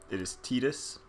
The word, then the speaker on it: Tidus: So our protagonist, or protagonist, his name is, I've always said Tidus. I know officially it is Tidus. That's how they pronounce it in Dissidia, other Final Fantasy games that actually speak his name, which makes this one unique.